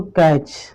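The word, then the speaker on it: catch: एक और एग्जांपल देख लो, कैच।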